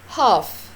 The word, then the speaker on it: half: half half half ال هنا عندي silent silent يعني بتكتب ولا تنطق.